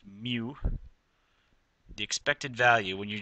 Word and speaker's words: mu: oh and there's a symbol for that it's pronounced mu the expected value when you're just saying okay